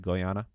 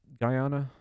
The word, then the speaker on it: Guyana: Oh, have you have you not been following the situation with Goyana? Is that how you pronounce it? Guyana.